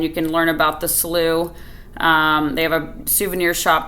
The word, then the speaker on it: Slough: Mile Cypress Slough preserve yes it's spelled Slough but it's pronounced slew but spelled s-l-o-u-g-h so